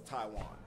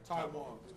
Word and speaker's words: TaiJuan: Now, I want to make sure I pronounce his name correctly. TaiJuan, how would I do it? It's TaiJuan. TaiJuan.